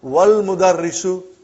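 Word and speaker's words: والمدرس: Then we will say, wal mudarrisu. Wal mudarrisu, you did not pronounce Hamza. Okay? Because it's Hamzatul Wasal.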